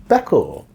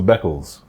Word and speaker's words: Beckles: So then she used to always say, "Hi, Dave, Beckel," Uh-huh. and I was like, "Okay, Beckel," as opposed to Beckles.